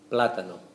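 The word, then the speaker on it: plátano: see it written down you will see an accent uh above that first a which means which changes the the the way we say it in the pronunciation and it becomes platano platano so we stress uh The Vow with the accent so the thing to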